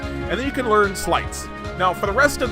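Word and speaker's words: Sleights: then you can learn slights now for the rest of this playthrough after this emergency stream is finished I will pronounce this slate because I am an idiot but it is pronounced slight these are slights so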